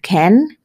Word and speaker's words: can: el verbo poder que se pronuncia como Ken no can sino como Ken Y es el verbo